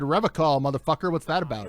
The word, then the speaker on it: Revachol: You said Revachol, motherfucker. What's that about? I like to pronounce it the hard way. The old way.